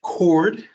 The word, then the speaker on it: chord: this word CH h o r d is pronounced cord not chord it's pronounced cord okay make sure